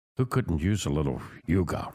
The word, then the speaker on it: hygge: strategies for living radio on 1017 fm7 K Yuga h y g g e it's pronounced Yuga a Danish concept and it's just taken off